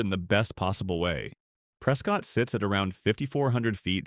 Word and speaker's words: Prescott: Number one, Prescott. Locals pronounce it prec.